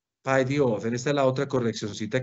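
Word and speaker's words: παιδιόθεν: Ek paidiofen. Paidiofen. Esta es la otra correccioncita que te haría yo en cuanto a la pronunciación. El término paidiofen en cuanto a que se acentúa en la omicron.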